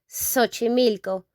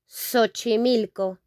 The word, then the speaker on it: Xochimilco: It's like Xochimilco, like if it were an S, not an X, okay? Xochimilco, Xochimilco.